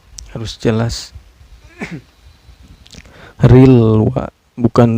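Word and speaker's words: الْوَسْوَاسِ: Cara bacanya lam sukunnya ini dibaca secara jelas ya, gak boleh memantul, harus jelas. Rilwa, bukan rile, gak boleh rile, gak boleh memantul ya, tapi harus jelas bacanya.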